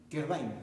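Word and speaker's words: Quervain: ¿Cómo se pronuncia? Kerbain. Yo soy malo. Uno de mis waterloos que he tenido en mi carrera, aparte de no tocar guitarra como los morochucos, ha sido el inglés. No pronuncio muy bien. No, me gusta, ni, no pronuncio nada. ¿Ya? Kerbain, me dicen ustedes, ¿cierto?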